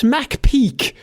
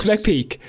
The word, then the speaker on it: McPeak: Brett McPeak. Peak is spelled, by the way, as in like peeking around the corner. It's Brett McPeak.